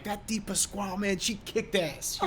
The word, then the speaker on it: DiPasquale: Yes, and I think it was probably my great grandfather if I'm correct on this, Dad, that our last name is from Italy, pronounced DiPasquale.